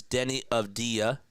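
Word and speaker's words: Avdija: First of all, it is Denny of Dia. Thank you so much for the pronunciation correction.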